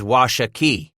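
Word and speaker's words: Washakie: This fell's name is Washa Key, Bridger explained, putting the emphasis on the last syllable.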